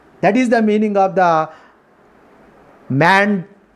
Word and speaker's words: mandamus: That is the meaning of the mandamus. Mandamus. Mandamus is the correct pronunciation.